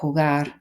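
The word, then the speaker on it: jugar: obviously the J and hugar first of all make sure you're pronouncing that as a h the V make sure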